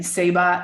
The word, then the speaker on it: Ceiba: Seba is the Mayan tree of life, and it's spelt CEIBA.